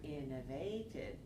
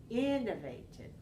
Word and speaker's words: innovated: we have four one we don't want to change the stress over to this one so let's try it again innovated you got it that's